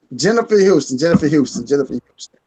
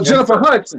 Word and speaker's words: Jennifer Hudson: Jennifer Houston. Hudson. Sorry, I'm saying the fucking name wrong. Wow. Hudson. Oh, Jennifer Hudson.